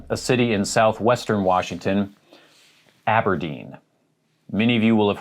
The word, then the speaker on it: Aberdeen: is fairly simple but i have heard some people say aberdeen it's aberdeen aberdeen here's one that i